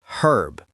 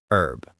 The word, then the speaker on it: herb: In British English, the H is pronounced herb. But in American English, it's silent, herb.